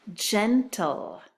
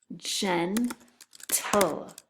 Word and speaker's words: gentle: Gentle. Gentle. Okay, so the first syllable is gen, and the second syllable is tul. Gentle.